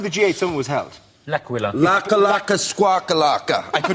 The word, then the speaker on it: L'Aquila: L'Aquila. Laka laka squawkalaka. I could never pronounce that word. That's okay. It is a night of bad Italian impersonation, so we'll let you in. But it's called L'Aquila.